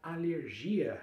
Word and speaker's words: alergia: Como é que você vai falar alergia em espanhol corretamente? Alergia, segunda sílaba forte. Alergia, fechando E, não é alergia, como a gente viu no teléfono, é teléfono, aqui também é a mesma coisa.